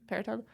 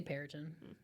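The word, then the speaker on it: Peryton: How do you pronounce Periton? Periton? I guess the Y threw me off. I thought it had to be more of an E sound. Periton. I say Periton.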